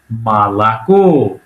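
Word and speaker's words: молоко: যেমন উদাহরণ দিছে মলক লেখা হয়েছে মলাক। কিন্তু উচ্চারণ একটু আলাদা।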